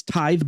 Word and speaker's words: tithe: some people mispronounce that word a lot it's tithe Barnes that's how it's pronounced some people say like Tiffy and I always kind of giggle when I hear that because it just sounds really different uh it's tithe barns that's one that I I always click